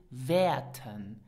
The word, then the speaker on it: wäerten: Pronounce it werten.